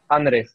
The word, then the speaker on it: Anrich: Anrich.